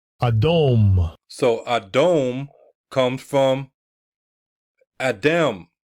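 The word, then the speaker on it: Edom: what Rosie Red Ruddy so adum how you pronounce it Strong's H1 122 adome adome so adome comes from Adam Adam strongs h119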